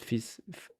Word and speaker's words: fils: But yeah, fils de pute is correct. Is it that there's an L, you know? At fils f i l s, but you don't pronounce the L.